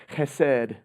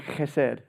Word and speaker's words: chesed: The word is chesed. Everybody say chesed. And you kind of say it with like a silent K at the beginning. Try it again, chesed.